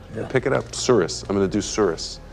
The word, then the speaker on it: tsuris: How do you spell that? T-S-U-R-I-S. Tsuris.